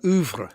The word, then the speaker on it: oeuvre: Oeuvre. It is oeuvre. I love the pronunciation there. Yeah. But I'm going to tell you off and say no. It should be oeuvre. Oeuvre, as in Hoover.